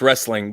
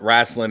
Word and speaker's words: wrestling: well it technically it's wrestling but wrastlin is what you know the old boys call it so you know either